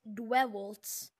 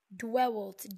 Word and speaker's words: Dwewalt: So his name is Dwewaltz. Pronounced so basically, like Gerald, except say it as if you can't pronounce anything. Dwewalt, D, it's spelled D-W-E-W-O-L-T, Dwewalt, that's how you pronounce it.